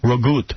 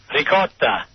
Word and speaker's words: ricotta: Oh, the one that Gary calls ragut. Ragut. Ricotta. Ricotta.